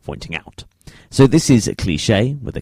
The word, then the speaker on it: Klischee: Now, the next artist that I have for you is called Klischee, but it's spelt K-L-I-S-C-H-E-E.